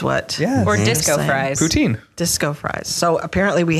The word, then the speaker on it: poutine: Now, I researched the pronunciation. This is a Canadian. Poutine is Canadian. It's poutine.